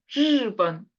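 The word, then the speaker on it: 日本: 발음인데 대부분 틀리게 발음하죠 우리 원래 일본 일본이 중국어로 번 있잖아요 르번 근데 한국에서 이제 모든 CD 다 들어보면 르번 이렇게 발음해요 르번 르번 아니고 르번 이렇게 앞으로 나가야 되거든요 그래서 요렇게 하시면 이제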